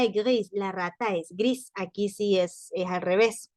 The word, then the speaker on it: gris: Miren, gris se dice gris porque no se pronuncia la S final, igualito, como en español.